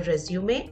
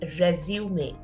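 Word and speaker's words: résumé: be slightly confusing what's the difference between a resume and a CV okay so the most important thing to remember here is that this word that you see here it's pronounced as resume not resume means to continue or to start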